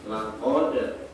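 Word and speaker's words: لَقَدْ: Nah, jadi huruf dal ini adalah qalqalah sughra, yang bacanya adalah laqad. Semuanya? Ya? Laqad. Iya, laqad. Bukan dibaca laqad, tapi dibaca laqad.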